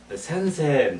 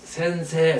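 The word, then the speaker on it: 先生: 선생님 할 때 센세, 세를 길게 하자 이죠.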